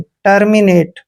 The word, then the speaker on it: terminate: को ए की मात्रा पढ़ते हैं, टी का उच्चारण टे करते हैं, टर्मिनेट।